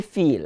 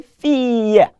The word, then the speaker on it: fille: Please don't say feel. I'm hearing somebody saying feel. Say fille.